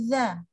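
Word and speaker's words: ذ: Kemudian dia antara lidah dengan langit-langit itu kebuka, terpisah. Jadi makanya bacanya za. Kepisah kan lidahnya sama langit-langitnya kepisah tuh.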